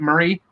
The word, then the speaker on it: Murray: I saying it right Murray torpedo Roadmaster pedal car Murr Murray right Murray yeah Murray right like the bicycle yeah bicycle we're gonna